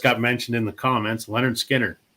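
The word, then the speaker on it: Lynyrd Skynyrd: mentioned in the comments Leonard Skinner pronounced Leonard I mean it's a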